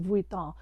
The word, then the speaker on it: Vuitton: And yes, I know it's pronounced Vuitton, but I'm not French.